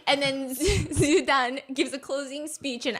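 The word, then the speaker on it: 朱丹: start saying, it's okay, Zugan. So they're getting her name wrong. Okay, because her name is Zudan. Zugan. Also, I think it means pig liver, right? Jugan, yes.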